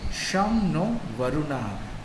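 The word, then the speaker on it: शं नो वरुणः: is the emblem contains the motto some no varuna which is pronounced sham no varuna and this means you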